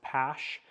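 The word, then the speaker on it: Paasche: So here's the, I think it's pronounced PASH, TG Talon, that's what I use.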